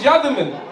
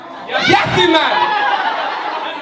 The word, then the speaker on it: Yatherman: So like I said, my name is Yatherman. But you see, when I went to school, when I went to do my job, they didn't pronounce it like that. You know what they used to call me? Yathyman!